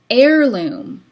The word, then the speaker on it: heirloom: in the pronunciation is heirloom, okay? What about this heirloom tomato? You don't actually pronounce the H there, nor in the word heir.